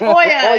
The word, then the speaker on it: Olya: So tonight we have our friend Olya. Hey, If I said it right. it's Olya.